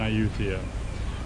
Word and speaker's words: Ayutthaya: also and are you excited about going to iudia yes okay so we'll see you there why don't you say it right we are this is the first of the ruins we're going to see in ayutia uh iut was a city that was existed